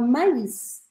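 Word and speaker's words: maïs: em francês mas você vai pronunciar solta a letra que tem o trema e por isso a gente fala Maís Maís isso acontece com nomes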